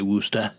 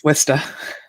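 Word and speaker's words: Worcester: I know how to say Wora. You didn't say it right. It's Worista.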